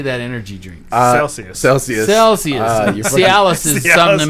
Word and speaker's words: Celsius: bastards did you guys say sorry Jesus Christ cisis how do you say that energy drink Celsius Celsius Celsius seis is something that makes your penis